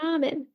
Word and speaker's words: ramen: Ramen.